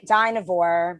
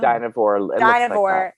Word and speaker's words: Dynevor: I think it's Dynevor. Oh. Dynevor.